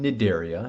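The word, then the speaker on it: Cnidaria: phylum is the phylum nedaria now i know this one sounds a little weird the sea in the daria is silent uh but these are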